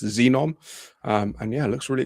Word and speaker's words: Zenom: It's spelled ZENOM, but pronounced Xenom.